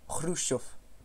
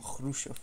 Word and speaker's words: Khrushchev: Et c'est vraiment ch, donc un Khrushchev. Riche croche. Ah, et aussi à la fin, les V, en fait, quand ils sont en fin de phrase, enfin, fin de mot, se prononcent F. Donc, parce que c'est atténué par la fin de phrase, donc Khrushchev. Voilà, c'est cadeau!